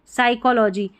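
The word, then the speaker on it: psychology: यहाँ पर पी का ये जो है ना, ये वाली साइकोलॉजी, यहाँ पर जो है पी साइलेंट है.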